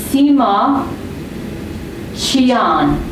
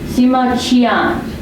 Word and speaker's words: Sima Qian: The Q is pronounced ch. That's it. Yes, that's right. So his name, the historian, is Sima Qian. Sima Qian.